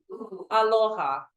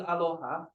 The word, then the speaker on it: aloha: Aloha. So there's no U in aloha.